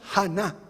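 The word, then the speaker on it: חָנָה: verbo que se pronuncia hannah es anna pero con una h adelante a na qué significa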